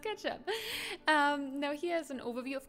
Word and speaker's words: k3sup: It's pronounced ketchup.